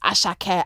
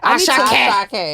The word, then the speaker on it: Asake: It's pronounced Asake. Asake.